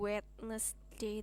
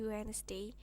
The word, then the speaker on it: Wednesday: Wednesday ini d-nya dihilangin Wednesday ini d-nya dihilangin ya bukan wtness day tapi Wednesday terus u-nya dibaca e Thursday Friday Saturday Sunday